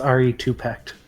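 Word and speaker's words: Re2pect: respect with the two it's pronounced re two pecked all right Ari -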